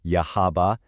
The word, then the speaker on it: Yahaba: Let's take a look at a real world case study, the town of Yahaba, that's pronounced Yahaba in Japan.